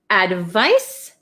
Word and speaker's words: advice: feel so advise advise so I'll write this is like an S and this is like a z why do they do that to us okay advice and advise so advise